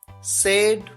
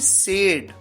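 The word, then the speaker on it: said: यहां पर आपको ध्यान ये रखना है कि सेड, सैड नहीं, सेड, क्योंकि अगर आप कह देंगे सैड तो सैड हो जाता है SAD, जिसका मतलब होता है दुखी।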